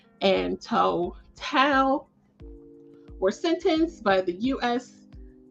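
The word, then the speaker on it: Tou Thao: this week and so I did confirm the pronunciation is J Alexander King and Tao Tao they were convicted on federal charges and so former Minneapolis police officers J Alexander King and toe Tao were sentenced by the U.S District Court Judge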